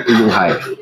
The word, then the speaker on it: Fuyunghai: Tulisan itu kalau sini bacanya Fuyunghai.